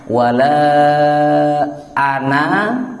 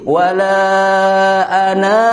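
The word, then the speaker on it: وَلَا أَنَا: Nggak boleh dipanjangkan walaupun ada matobi'i, bacaan matobi'i. Jadi wala ana itu salah. Jadi wala ana langsung ya. Tapi nggak boleh ana. Nah tadi ada na. Saking cepatnya bacanya, kadang-kadang kita bacanya jadi ne gitu. Padahal tidak diperbolehkan. Tapi wala ana.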